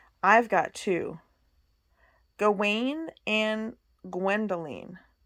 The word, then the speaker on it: Gwendoline: Gawain and Gwendoline. She pronounced the second dragon's name Gwendolen.